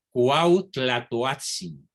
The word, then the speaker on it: Cuauhtlatoatzin: indígena san juan diego cuauhtlatoatzin repito la pronunciación muy difícil de la uat cuauhtlatoatzin quien había sido bautizado